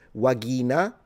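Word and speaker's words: vagina: Do remember classical pronunciation, the V is a W and the G is a G. So, pronunciation is a little different. Uh, you would pronounce this wagina, but you know what I mean.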